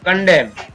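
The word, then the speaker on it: condemn: Next इसी प्रकार न डैम, कंडेम, यहाँ पर एन का कोई उच्चारण नहीं है।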